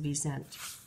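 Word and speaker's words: wisent: Europe they are called V resent this is pronounced the V sent many people in North America tractors out on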